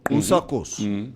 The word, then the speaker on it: Usakos: No, Usakos. That's the correct. Usakos. That's the correct pronunciation.